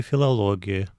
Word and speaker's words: филологи: Я учусь от глагола дешецны на факультете удмурской филологии. Здесь тоже в слове филологи ударение на предпоследний слог. Недавнее заимствование.